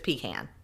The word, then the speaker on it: pecan: to calm down because it's pecan. Say it like the God meant to.